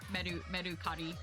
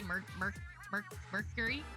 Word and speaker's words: Mercari: Yeah, I say Mercari because that's how they say it in Japanese. I don't know. Do you say Mercury?